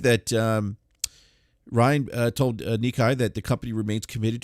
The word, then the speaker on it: Nikkei: And he was speaking to, I can't pronounce this, is it Nikkei? Yeah, you could just say, Nikkei.